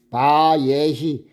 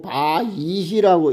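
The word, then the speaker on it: וַיְהִי: 바예. 바예라고 읽어도 되고 바 이히라고 읽어도 됩니다.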